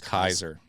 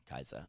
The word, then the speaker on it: Caesar: but most likely Latin, like the AE is pronounced I in Roman Latin. So Right. it'd be Eyes, and the C is probably hard. So it's Kaiser. Kaiser.